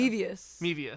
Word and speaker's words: Mevius: Mevius. Like Mevius. The Japanese cigarette.